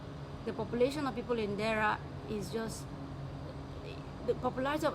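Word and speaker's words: Deira: I'll spell it out. D-E-I-R-A. That is Dera.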